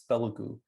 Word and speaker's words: Telugu: It's Telugu. It's like, what's that? I'm like, okay, Tagalog, the Filipino language? Yeah, so switch the last two syllables, you get Telugu.